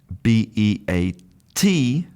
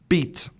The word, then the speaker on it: beat: So, if I make the pair of b e a d bead and b e a t beat, you'll notice that there's a big difference in the length of that phoneme. So, I'll say bead beat bead beat.